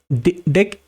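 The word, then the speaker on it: deque: So it is saying why it is called doubleended q because deck pronounced as a deck means uh doubleended q and you can add and remove both ends.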